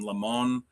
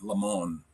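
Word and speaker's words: Limón: Martin, L I M O N, Lemon, I think is how you pronounce his name.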